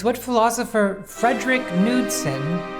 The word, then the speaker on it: Knudsen: The D is just it's just Knudsen. It's not fancy. It's not that fancy with like silent letters. Only the K is silent.